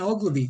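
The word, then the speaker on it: Oglivie: Let's try Ogilvy. Is that how you say his name? Yep, Ben Ogilvy.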